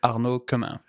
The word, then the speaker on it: Arnaud Quemin: So my name is Arnaud Quemin. Okay. French name, so it's really not international.